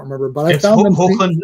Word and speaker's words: Hoechlin: Hoechlin. It's pronounced. Hoechlin.